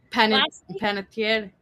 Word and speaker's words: Panettiere: Panettiere.